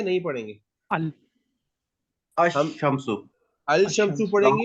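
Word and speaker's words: الشمس: अल हम अशम्सो। अल शम्सु अशम्स। पढ़ेंगे या अशम्सु पढ़ेंगे? अश अल अशम्स। शम एल साइलेंट है।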